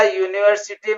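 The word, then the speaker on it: university: इसी तरह यूनिवर्सिटी में यू वावेल है, लेकिन इसका साउंड कंसोनेंट है, इसलिए यूनिवर्सिटी से पहले ए यूज होगा.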